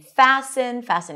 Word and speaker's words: fasten: But the T-E-N pattern changed, and the T was no longer pronounced, and we see it in words like soften and fasten your seatbelts. We don't pronounce the T here.